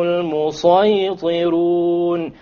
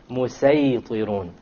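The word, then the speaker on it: المسيطرون: It is better to pronounce it as a sad.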